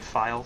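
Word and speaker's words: FiIe: Technically his name is F-I-I-E, but the second I is capitalized, and he pronounces it File, so...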